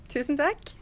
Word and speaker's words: tusen takk: How about thank you? Takk. Tusen tack. So that literally means 1,000 thank yous, right? Exactly. Okay, so tusen tack.